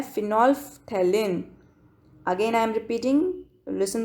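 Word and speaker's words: phenolphthalein: जो केमिकली बनाया जाता है, उसका एग्जाम्पल है फिनोल्फ्थैलिन. Again I am repeating, listen the pronunciation properly. फिनोल्फ्थैलिन synthetic indicator है.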